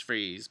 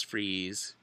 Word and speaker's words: Fries: Fri to Olympic it's freeze but it's pronounced it looks like fries but it's freeze fine I'm sorry I'm